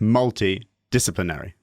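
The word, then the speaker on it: multidisciplinary: got to do multi I think you land the emphasis on the second syllable does that feel right multi multi multi multi I say nice it's on the first it's on the first right so multi-discipline array discipline so you've got to land on the first and well you gotta land on the first and fifth syllable of a seven syllable word and I think that's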